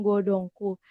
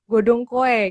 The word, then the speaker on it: Godhongkoe: Nah, kita kan sudah membahas jauh tentang godongku. Nah, mungkin beberapa teman yang baru join nih belum tahu nih Bu, arti godongku itu apa sih? Kadang aku juga kemarin salah gitu, bacanya malah godongkoe kayak gitu.